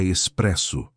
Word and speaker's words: espresso: É espresso, disse ele, a pronúncia perfeitamente italiana, alongando o S com uma satisfação quase palpável. Com S, vem do italiano, significa pressionado, não expresso, de rapidez.